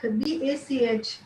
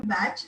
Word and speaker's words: Bach: used to call him Batch, and so both ways people pronounce it both ways: Batch flower remedy or Bach flower remedy.